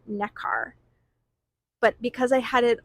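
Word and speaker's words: Nekar: And the Dutch version is pronounced neck car. Ne K a r. Necar.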